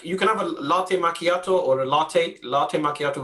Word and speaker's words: macchiato: To me, it doesn't sound as though the word is pronounced like that. A macchiato.